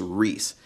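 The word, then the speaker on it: Rhys: His name is Reese. And I believe it's spelled, let me make sure I get it right, R-H-Y-S. So Reese Wyatt.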